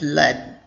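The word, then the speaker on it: lead: according to your own these both words are pronounced as led but they are different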